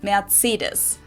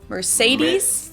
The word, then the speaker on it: Mercedes: most Americans call this Mercedes in German we pronounce it matsidas so Mercedes versus Mercedes so it's really pretty different and